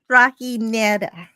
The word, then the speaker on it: trajinera: It's Trajinera. Oh, dear God. Trajinera. I had to look it up. Was this shake made from ice cream and bananas? Yes, it was. J is pronounced like an H.